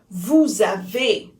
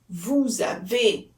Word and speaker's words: vous avez: Vous avez. Vous avez.